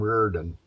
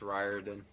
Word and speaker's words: Riordan: Well, I called him Reardon, and then I was corrected. Now, what is that pronounced? How does that sound to you guys in the audience? It's Riordan.